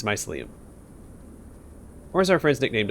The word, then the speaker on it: mycelium: or the mushroom people it's a hard sea but it's mycelium or is our friend's